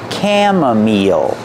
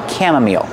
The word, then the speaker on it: chamomile: my meal that's right the CH makes a sound the I makes a long e sound like green beans again chamomile chamomile this is pronounced chamomile mint easy Rosemary easy